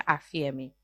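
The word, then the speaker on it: ἀφίημι: traducción al griego es afiemi con ph, pero se pronuncia afiemi.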